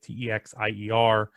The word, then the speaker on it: Texier: So he's from France. So I'm probably saying it right.